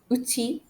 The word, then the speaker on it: outil: dans outil, which means Final L is usually silent after the letter I, like in jaunty and in uti. Jaunty means nice, uti means tool. So, when I pronounce these two words, jaunty, uti, you can hear that I don't pronounce the letter L.